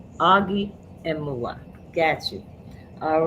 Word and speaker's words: Emuwa: So last name is Emuwa. First name, friends call me Augie because it's pronounced Augustine.